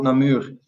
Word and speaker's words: Namur: Yeah, in Flemish we call it Name. Nama. But in English they call it Namur.